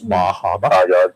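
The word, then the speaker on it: Bar Harbor: Bajaba, that's how you pronounce it. It's Bahaba.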